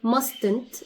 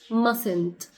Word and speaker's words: mustn't: You see the first t is silent. It's not mustn't. It's mustn't. Mustn't.